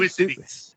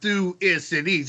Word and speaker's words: Thucydides: Thucydides. Damn. All right, it's like THU and then the Y like it's an I. Thu is Cides. It looks like side, C-I-D-E-S, but Thucydides.